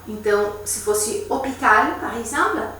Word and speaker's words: hôpital: E aqui lembrando também que poderia ser um lugar que começa com H, porque o H é mudo. Não todos, mas enfim, ele é mudo em geral. Então, se fosse hôpital, por exemplo, à l'hôpital, é o A, L e apóstrofo.